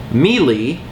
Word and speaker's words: Melee: and my all-time favorite game is melee I actually pronounce it mely and I will for the rest of my life I'm not the only